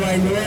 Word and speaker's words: Wailua: Wailua is spelled W-A-I-L-U-A. W-A-I in Hawaiian means fresh water. Okay, said as by.